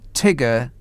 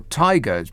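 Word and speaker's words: TIGRR: that will really put a tigger or tigers probably how you pronounce it in the tank of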